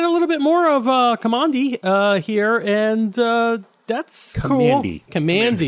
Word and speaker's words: Kamandi: So we get a little bit more of Kamandi here, and that's Kamandi. cool. Kamandi. Commandy. You know what? He was found in a bunker. It was Command D. So that's the pronunciation.